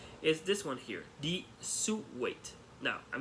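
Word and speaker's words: Sou: if I don't but the actual pronunciation is Su because the letters of the name is s-o-u so so if you're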